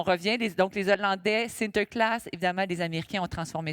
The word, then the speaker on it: Sinterklaas: De la bière, des armes bien sûr, mais leur Saint-Nicolas que eux prononcent comment ? Exactement. Sinterclass, c'est une grande tradition belge en fait.